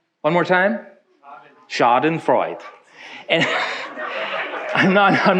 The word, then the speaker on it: Schadenfreude: Correct my pronunciation. Schadenfreude. Schadenfreude. One more time. Schadenfreude.